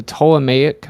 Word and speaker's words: Ptolemaic: Earth was flat um there the p is silent of course but yeah it's a ptolemaic model was not widely